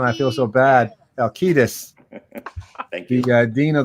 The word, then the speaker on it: Halkitis: I'm going to keep saying it that way because I was informed yesterday that I've been mispronouncing his name every time we had him on. I feel so bad. Halkitis.